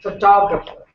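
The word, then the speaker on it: photographer: खींचने वाला आता है तो उसको बोलते हैं फोटोग्राफर, तो टॉप पे स्ट्रेस आ जाता है। अब मुझे क्या पता, मैं कहूंगी फोटोग्राफ तो उसको खींचने वाला फोटोग्राफर, ये मैं अपने कॉमन सेंस से प्रोनाउंसिएशन बना रही हूँ फोटोग्राफर, क्योंकि फोटोग्राफ उसमें ईआर लगा दो फोटोग्राफर, लेकिन इंग्लिश में ऐसा है नहीं, फोटोग्राफ फोटोग्राफर।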